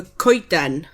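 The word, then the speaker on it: coeden: So, one tree is a kiten.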